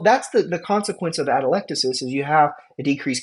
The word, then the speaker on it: atelectasis: right here it's called atelectasis how do you say that word it's atelectasis atelectasis atelectasis say it with me